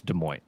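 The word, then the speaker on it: Des Moines: Lady Side, Francis, most people in the US don't even know how to properly pronounce De Mo.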